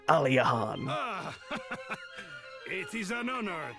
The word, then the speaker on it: Aliahan: Aliahan. That's how you say it. I think that's what I've been saying. Aliahan.